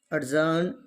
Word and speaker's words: adjourn: silent for example adjective adjourned we say adjourn but not that's wrong as earned the quote is assumed